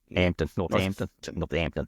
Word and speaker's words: Northampton: Well, looking at Northampton Town, or should I say should I pronounce the H? Northants. Hampton. Northampton.